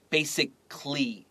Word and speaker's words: basically: 然后 use your highlighter, A-L-L-Y. 你会没有听到这个 A. Basically, it sounds like only L-Y.